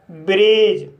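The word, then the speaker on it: bridge: तो गाइस इसका रूल है जब किसी वर्ड में डी के बाद जी ई आए तब डी साइलेंट रहता है। जैसे एज बेज वज लॉज ब्रिज। तो गाइस इन सभी वर्ड में डी के बाद जी ई आया है। इसलिए डी साइलेंट है।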